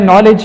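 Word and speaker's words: knowledge: रही यह साइलेंट है दूसरा रूल्स है कि जब के और इन कटे आ जाते हैं तो हमारे पास के साइलेंट होगा यह समस्या शुरू होगा नो दूसरा नंबर है नॉलेज यहां पर भी के इकट्ठा यह है तो के साइड होगा है तो अब वह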